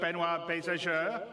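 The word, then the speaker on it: Benoit Beaufour: Without me waffling on, I'd like to bring CIG's CTO, Benoit Bézageur.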